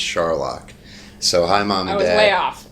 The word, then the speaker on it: Scharlach: we are with scar latch is that how you say your last name that's how some people say they're wrong little bit it's okay but it's funny my last name is pronounced Charlotte so hi mom oh